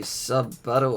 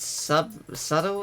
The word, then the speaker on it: subtle: Not very sub-buttle of you. Hey, you brought it up. Wait, what? What did you just say? Did you think the word subtle is pronounced sub-buttle?